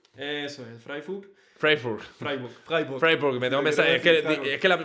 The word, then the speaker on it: Freiburg: Freburg, Freiburg, Freburg, Freiburg. Me tengo que es que es que la pronunciación la dije como medio en inglés, no en alemán, ¿sabes?